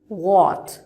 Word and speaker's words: what: আমাদের এখানে আছে আমাদের সাউন্ড সিম্বল অনুযায়ী যেটা আমাদের উচ্চারণ করতে হবে সেটা হচ্ছে হোয়াট। Again I repeat, what.